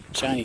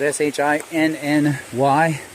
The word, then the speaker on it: Shinny: Shiny, by the way, is spelled S-H-I-N-N-Y. Yeah, I know, it looks like shinny.